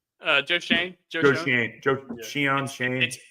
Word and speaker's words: Schoen: Joe Shane. Joe Shane. Shane. It's. I think it's pronounced Shane, but it's spelled Schoen or something.